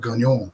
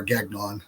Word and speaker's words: Gagnon: on um people like Robert gagne or Gagnon depending on how you want to pronounce it because I speak